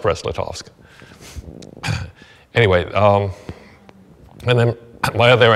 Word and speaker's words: Brest-Litovsk: But it's still pronounced Brest-Litovsk.